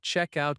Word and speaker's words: check-out: Notice that check-out can be two words, and the stress is on check.